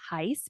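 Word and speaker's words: Gijs: It's spelled G I JS, but it's pronounced Heis because he's from the Netherlands, aka Bob, You're my first, my last, my everything.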